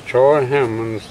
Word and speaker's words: Troy Hammons: uh tell me what your name is and spell it for for us my name is TR hmond t r o y h a m m